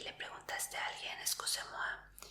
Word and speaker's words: excusez-moi: Entonces esa palabra se dice excusez-moi. ¿La conocías? Sí. Suena un poquito como inglés.